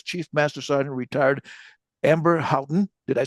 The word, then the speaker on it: Houghton: She is Chief Master Sergeant retired Amber Houghton.